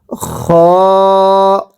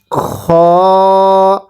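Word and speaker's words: خ: এরপরে শব্দটা খ, কিভাবে পড়ব? খ। অনেকেই আমরা এই খকে খা পড়ি, যদি উচ্চারণের সময় খকে খা পড়ি তাহলে কিন্তু পড়াটা শুদ্ধ হবে না।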